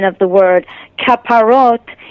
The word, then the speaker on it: kaparot: pronunciation of the word kaparot is the Hebrew pronunciation um but you know